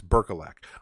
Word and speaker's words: Berkelak: is always i'm sorry i keep mispronouncing your name it's berkelak i am sorry um